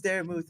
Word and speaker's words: Daramouthe: My name is Daramouthe, or Dara for short, because people can't stinking say a word right. They say Daramouthe. Look, what does the silent E mean to you guys?